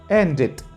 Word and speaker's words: ended: En este caso, para pronunciarlos en forma pasada, en tiempo pasado, vamos a agregar en sonido la terminación ID. Started, ended. ¿Pueden notarlo? Started, ended.